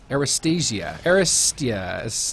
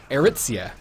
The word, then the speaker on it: Aritzia: Got some heals coming out from How do you say that? Aristia. Oh my goodness. Aritzia. There we go. I did it.